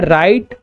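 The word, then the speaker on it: write: इन तीनों में H silent है। इसे पढ़ते हैं राइट, रॉन्ग और रिस्ट।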